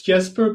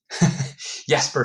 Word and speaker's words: Jesper: let's do this because yesper you yesper or Jesper I'm not sure how to pronounce that it's jper but I also respond to jper yesper so yesper Ule is a